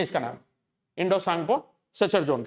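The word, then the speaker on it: Tsangpo: है य इंडो सांगपो अब आप सोचोगे सांग में तो एस होना चाहिए लेकिन वो टी साइलेंट होता है इसके अंदर है ना टी एस वाई इस तरीके से लिखते हैं सांग तो ये इंडो सांगपो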